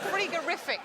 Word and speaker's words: frigorific: Should pronounce it frigorific, probably.